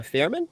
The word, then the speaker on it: Fierman: very special guest with me today it's Hannah Fairman am I pronouncing that right yeah uh she's I'm a